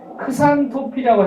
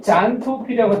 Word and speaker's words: 잔토필: 그런데 얘가 뭐가 있냐면 카로틴과 크산토필이 있는데 크산토필이라고 해서 되고 잔토필이라고 돼요. 영어에서 보면 여러분 알렉산더 대왕이 영어식 표기로 영어식 발음을 일렉산더잖아요. 일렉산더. 알렉산더 노노 일렉산더. 잔토필은 영어로 잔. 제일 정확한 우리식 표 어렵죠. 그래서 잔이라고 불러요. 예전에 이걸 어떻게 불렀냐면 크산이라고 썼었어요.